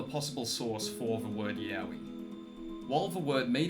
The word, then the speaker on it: Yawi: Lastly, there exists the word Yowie, which is pronounced almost the same as the term Yowie.